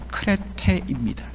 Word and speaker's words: 크레테: 바로 거래대에 성이었습니다 여러분들 저 거래대 번역을 거래되어야지만 정확하게 발음하면 크레테입니다 그리스 남쪽의 지중해 바로